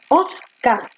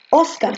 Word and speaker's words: Óscar: para óscar resulta que óscar lleva tilde oscar oscar tú no dices oscar tú dices oscar y como termina en